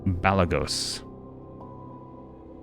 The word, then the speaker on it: Balagos: as the rune for Balagos. Okay, cool. Ooh, I do. As do I. As do I. Anybody else speak Draconic? How do you spell that? B-A-L... B-A-L-A-G-O-S. Balagos. Okay, just as it sounds.